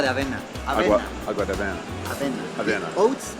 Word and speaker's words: avena: Avena.